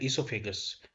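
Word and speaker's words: oesophagus: उसका दूसरा नाम है ईसोफेगस। अब इसकी स्पेलिंग है OESO, ईसोफेगस।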